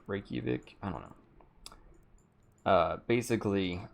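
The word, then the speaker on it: Reykjavík: in your right cubic daddy say it right Reykjavik I don't know basically it's like 60 degrees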